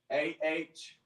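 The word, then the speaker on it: איש: So AHYASH.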